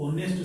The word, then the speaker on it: honest: HONEST, H silent रहता है, इसको ऑनेस्ट से शुरू करते हैं, तो ओ की ध्वनि आई ना, इसलिए यहाँ पर एल लगे।